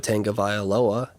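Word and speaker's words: Tagovailoa: you got the guy from Alabama to a tank of I Aloha and yes that pronunciation is correct and you also have Jalen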